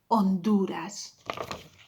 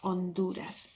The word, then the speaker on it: Honduras: if you remember correctly, it was at the beginning of a word, you don't pronounce it, so that was read Honduras, Honduras.